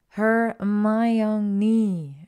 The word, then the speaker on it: Hermione: and change a subject how to correctly pronounce her name her my young knee she said slowly and clearly hermon ninny close enough she laughed